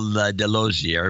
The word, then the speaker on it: Delosier: This is Delosier, rhymes with enclosure, enclosure, from Maryville, pronounced Merville.